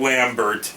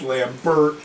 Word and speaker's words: Lambert: So they go back inside to go get Lambert. Yeah. And then all of a sudden, I fucking... have to emphasize his last name. I get it. It's Lambert.